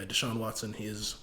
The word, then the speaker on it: Deshaun Watson: Yeah, that's how you pronounce it. Yeah, English. No, but yeah, Deshaun Watson.